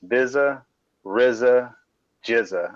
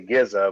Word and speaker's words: Bizza Rizza Jizza: It's Bizza Rizza Jizza. I know you always say Gizza, but it's Jizza.